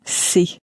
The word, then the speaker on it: c'est: The if sounds a bit more like the sea that you would swim in, a little bit like that, but shorter. And the it is sounds a bit more like the English word say, but it's not pronounced as clearly as that. But that's the difference. One veers more towards see and the other towards say.